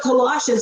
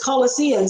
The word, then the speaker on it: Colossians: saying and he can't he doesn't pronounce Colossians he says colosan or something like that or they mispronounce words